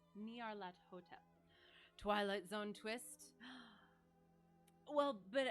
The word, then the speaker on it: Nyarlathotep: So oh shoot, I looked up how to kind of pronounce this. But Nyarlathotep. Nyarlathotep. Nyarlathotep.